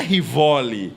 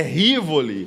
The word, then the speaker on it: Rivoli: pelo nome errado pessoal não é rivo é Rivoli é Rivoli esse esse sobrenome aí